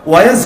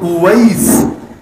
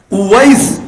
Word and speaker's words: উওয়াইস: বাস্তবে নাম কি জানেন? নাম হলো উওয়াইস। কি নাম? উওয়াইস, শেষে সিন, উওয়াইস, একটু উচ্চারণটা কঠিন।